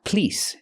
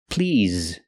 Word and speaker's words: please: table for to please the word is not pronounced please it's pronounced please using the ZZ sound with vibration like in the word zebra ZZ please not please but please a table for two please use the z sound so when you say